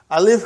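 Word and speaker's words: ال: hamza but you see you are reading as al you gave a vowel sign on hamza and you gave a sukun on lam are you with me brother every time you will see al you will read it al without vowel signs and you know there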